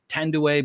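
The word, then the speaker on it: Thandie: And I've heard some people just say her name's pronounced Tandue, but anyway, I'm going to call her Tandy just for the sake of simplicity.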